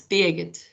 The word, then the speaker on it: Birgit: Is it Birgit? It's Baget, but Birgit is a good try.